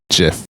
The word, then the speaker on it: GIF: This is also why I say the pronunciation is GIF, because that's what the creator suggested before you say the